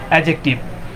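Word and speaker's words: adjective: এখানে সাধারণত ডি এর উচ্চারণ হয় না।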